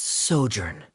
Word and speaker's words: sojourn: everything clear uh director zosimos how do you pronounce this word let me see Ah that's sojourn it means to stay for a while this